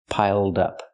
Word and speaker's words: piled up: Link the sounds, piled up. Pronounce it like one word, not piled up, but piled up. Connect the d with the next word, dup, piled up. Pronounce it like one word. It's easier that way.